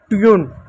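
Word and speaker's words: tune: Twin ट्यून twin नहीं twin. ट्यून हो गया।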